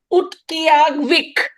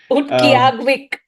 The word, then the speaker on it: Utqiaġvik: Utqiaġvik. My God, I might be just like Utqiaġvik. killing the name, but Yes. if I pronounce it more letter by letter, that's how it sounds.